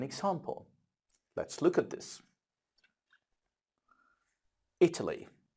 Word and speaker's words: Italy: let's look at this Italy this is how we say it Italy but we don't say e to leave we don't say Italy we say Italy the stress is on the first letter now look at the